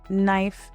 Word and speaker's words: knife: Silent K appears before N at the beginning of words. Examples include no, knee, knife, and knock. When you see KN, you don't prepare your mouth for a K sound.